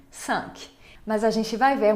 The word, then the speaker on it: cinq: E tem também cinq. Significa cinco. Cinq. Se pronuncia o quê?